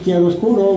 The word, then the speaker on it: chiaroscuro: Anyway, it's pronounced chiaroscuro, which means in Spanish, claro oscuro.